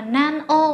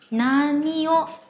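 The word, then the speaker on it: 何を: Nhưng trong trường hợp ghép với từ o đằng sau này, chúng ta sẽ không đọc là nan o mà đọc là nani o shimasu ka, có nghĩa là làm gì, làm cái gì, làm việc gì, được chưa?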